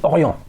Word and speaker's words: Orient: le prononce différemment donc on va se mettre d'accord c'est Orient Orient voilà Ori avec un petit truc à la fin euh ok est-ce que